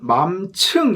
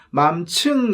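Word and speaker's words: 맘층: 문제가 아니라는 거야 우리는 맘 층 이라고 불리는 계층에 대해서 많이 이야기를 해 발음을 주의해야 될 맘 츰 계층 할 때 그 층이 야 어 마음이라는 계층 맘 층 이라는 계층에 대해서 이야기를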